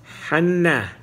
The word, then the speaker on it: Hanna: Just remember, Hanna, pronounced with a big het.